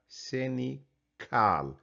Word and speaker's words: cynical: لكن أنا عايزك تشوف السي الثانية بننطقها كيف. السي الأولى بننطقها زي ما هي في الاثنين. في الأولى بننطقها cynicism، بننطقها س. الثانية بننطقها سينيكال ك ك.